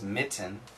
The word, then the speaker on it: mitten: But nobody says mitten. We usually say mitten mitten. So you'll notice tn tn tn tn tn tn. Especially TN relationships, we have a glottle stop sound.